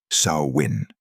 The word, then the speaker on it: Samhain: That something was Samhain. Samhain is pronounced SOW-win, like cow, but with an S.